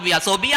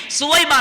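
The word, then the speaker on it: ثویبہ: ہے جو سویبہ ہے۔ عام طور پر ہم اس کا تلفظ غلط کرتے ہیں، صوبیہ نہیں ہے، سویبہ نام ہے، وہ اصل نام جو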